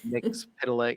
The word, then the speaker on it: Mxyzptlk: Mxyzptlk, yeah.